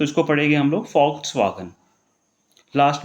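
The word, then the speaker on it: Volkswagen: ठीक है, तो इसको पढ़ेंगे हम लोग फॉक्सवागन।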